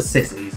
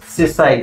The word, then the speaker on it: Sisay: That's for sissies, alright? Sissies... I'm for Sisay. With Sissies with control. It's pronounced Sisay, thank you.